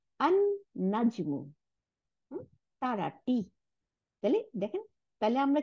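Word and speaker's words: النجم: আল, তারপরে নুন আসতে, তাহলে এই লামটা গিয়ে নুনের সাথে মিলে গিয়ে নুন দুইটা বানাই দিল, তাহলে আন নাজমু, তারাটি।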